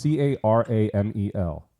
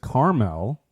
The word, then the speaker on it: caramel: that same me too now if you met someone that says Carmel do you judge this person it might be Regional I mean look tomato